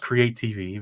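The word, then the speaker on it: create_TV: It's pronounced create TV because it's being creative.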